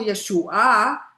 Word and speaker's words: Yeshua: Dice Hashem, guardad Shomer el derecho MPAT y practicad a la justicia Sedec porque mi salvación Yeshua, Yeshua con el acento en la A. Yeshua, no Yeshua.